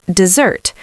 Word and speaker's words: dessert: Pronounced dessert. Same sound as desert, the verb, but different spelling and completely different meaning.